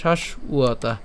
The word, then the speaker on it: শাশ্বতা: তাহলে শাশ্বতা কেন? কারণ এখানে যে ব আছে এটা কী ধরনের ব? আমাদের বর্গীয় ব, আর বর্গীয় ব এর উচ্চারণ কার মতো হয়? উয়ের মতো হয়। সেজন্য এর উচ্চারণ কেমন হবে? শাশ্বতা। আর যদি একসাথে উচ্চারণ করি তাহলে হবে শাশ্বতা। ঠিক আছে, তা আমরা সম্পূর্ণটি